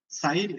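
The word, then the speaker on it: Zain: സുറിയാനിയിൽ സ എന്ന് പറയുന്ന ഉച്ചാരണം വരുന്ന 4 അക്ഷരങ്ങളുണ്ട്. അതിലെ ഒന്നാമത്തേതാണ് ഇത്, സ. ഇംഗ്ലീഷിലെ എസ്. ഇതിന്റെ പേര് സൈൻ എന്നാണ്.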